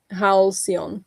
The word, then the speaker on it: halcyon: You pronounce it with s more as an s, not as a k. Okay. Halcyon.